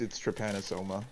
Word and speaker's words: Trypanosoma: But usually it's Trypanosoma.